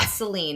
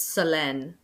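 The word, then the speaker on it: Solène: It's not Selen, it's Sen. Sen O L E N E. Sen with an accent over the E. The first Sen. Sen. That's exactly. It's French.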